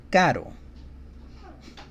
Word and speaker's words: caro: Caro. Caro. And then the soft sounding R sounds almost like a D sound.